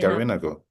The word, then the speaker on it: Garinagu: Garinagu. Garinagu. Garinagu. Yeah. The accent will be here. The stress is going to be on the I.